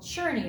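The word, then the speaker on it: Czerny: say that check name it's called churny like you're churning butter okay so it's Carl sometimes it's spelled with a K on the Carl let's say it together Carl churny have you ever heard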